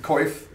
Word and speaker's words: coif: Coif.